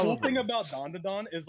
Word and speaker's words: Dandadan: Did I say it right, Zenith? Yeah, you did. Dandadan.